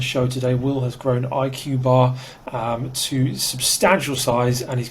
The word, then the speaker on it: IQ Bar: IQ Bar, is that how you say it?